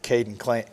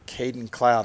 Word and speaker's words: Kaden Clint: strike on that one see if Kaden Clint can't uh I keep saying Caden clown I keep saying it wrong see if he can't